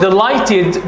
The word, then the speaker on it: delighted: exercise okay Mike was delighted be careful GH are silent letters here we uh Mike